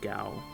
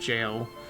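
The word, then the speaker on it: gaol: met in that Garlean Gal. Or Garlean Jail. That's the thing, that word's apparently pronounced jail, according to the voiceover in the game.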